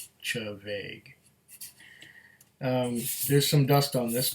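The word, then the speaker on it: Té Bheag: This one, he first pronounced teabag, but it's really, if you know how the spelling works for Scots Gaelic, it is Chavaig. Chavaig. Chavaig.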